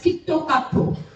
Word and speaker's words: Kit Kat: Kit Kats are given to students in Japan because in Japan they pronounce Kit Kat as Kitto Kato. And an O everywhere, right?